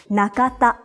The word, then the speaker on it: Nakata: Another common surname in Japanese is Nakata. Na-ka-ta. The pronunciation of these 3 kana are the same as in Tanaka, just the order has changed.